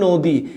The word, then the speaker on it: নদী: দিয়ে দেখাচ্ছি এখন দেখলাম আমি লিখলাম নদী নদী বলি না আমরা বলি নদী এইযে দন্তনের সাথে একটা